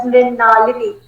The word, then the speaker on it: Mrinalini: Sir, it is pronounced as Mrinalini.